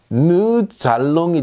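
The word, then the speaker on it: nous allons: 자, 누에는 누 알롱이라고 읽고 싶지만 누 잘롱이 되죠. 왜 이런 일이 생깁니까? 자, 리에종 현상이죠. S가 알롱과 붙어서 잘롱이 됐습니다.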